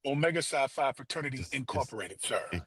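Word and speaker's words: Omega Psi Phi: Should How How do you pronounce So I don't say anything disrespectful? Omega Sci-Fi Fraternity Incorporated, sir.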